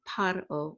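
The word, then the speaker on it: פרעה: El means to, and Paro, and this means Pharaoh again. And notice here it's Pharaoh with like a F sound, and here it's Paro with like a P sound.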